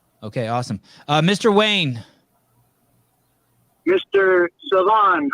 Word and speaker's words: Sevan: Sevan.